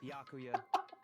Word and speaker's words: Byakuya: That sounds like I me heard the trying to pronounce story. his name back in the beginning. Byakuya.